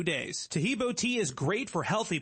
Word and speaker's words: Tahibo: Tahibo is spelled T like Tom, A-H-E-E-B like boy. Oh, that's Tahibo, and then continue with the word tea, and then the word club.